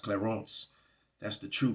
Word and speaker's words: Clarence: actually it's actually pronounced claron it's a French name it's pronounced claron that's the true pronunciation